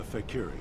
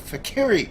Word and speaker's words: fakir: being you speak of the fakery oh it's a fakir II sorry I totally knew that I mispronounced it fight with honor tell